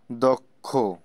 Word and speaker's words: দক্ষ: অন্য ইত্যাদি তারপরে দেখো চার নাম্বার শব্দের শুরুতে সর এর পরে যদি যুক্ত খ বা দেখো বর্গের যজ ইয় থাকে তাহলে স্বর অ এর উচ্চারণ ও এর মত হয় যেমন দক্ষ লক্ষ ইত্যাদি তিন নাম্বারটা আমি